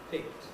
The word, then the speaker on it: picked: words are interchangeable here's the word picked now picked despite the way it's written is one syllable picked when i say a syllable has a vowel in it of course i mean spoken vowel the written vowel so the letter e in there corresponds to no sound whatsoever picked is the past